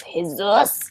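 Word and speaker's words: Jesús: and I was like, and they were pronouncing Jesus Jesus, and I was like, oh, okay. Yeah, and I like Spanish names that have J in them because it's a H.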